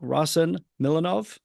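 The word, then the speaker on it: Rossen Milanov: Those are very, conducted by none other than your music director, Maestro Rasen Milanov. Yeah, that's Pronouncing that.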